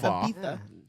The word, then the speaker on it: Ibiza: Is that how you pronounce it? Yeah, yeah. Ibiza.